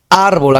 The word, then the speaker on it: árbol: Árbol, acá está en el rojo, pero sí, acá es en la sílaba ar, que es, me equivocaba en ar, que sería ese con rojo. Acá hay que rectificar, ¿no? En todo caso, árbol sería una palabra grave donde la sílaba más intensa es en ar, ¿ya?